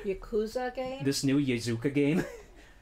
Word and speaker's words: Yakuza: Yazooka. What is it? That's not how you pronounce that word. Yakuza game?